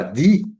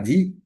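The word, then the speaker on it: dhīḥ: E a sílaba Di, D-H-I-H, Di, se diz que estimula essa inteligência.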